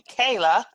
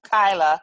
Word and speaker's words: Kyla: And I think I may have mispronounced your name in the beginning, called you Kayla instead of Kyla.